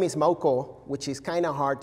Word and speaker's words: Maucó: like to do um my last name is mauko which is kind of hard to pronounce for almost every american that i know